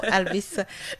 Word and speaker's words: Albis: merci beaucoup madame Lucia C'est ça Albis vous prononciz bien mon nom hein ?